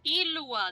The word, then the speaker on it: Ilua: Ilua. That's how you say it.